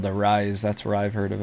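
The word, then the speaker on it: Rhys: How do you pronounce this first word in this name, Tanner? Rise. Okay. So the reason I asked, it's not because I'm illiterate, which is possible. It's because it's spelled R-H-Y-S.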